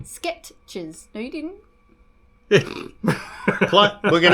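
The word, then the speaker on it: Skechers: How do we spell it? Oh, S K E T C H E S. E S. Yeah. No R.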